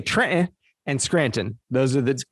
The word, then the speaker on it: Trenton: Trenton. That's how we say it at home. Trenton. Yeah, we don't say the T, right?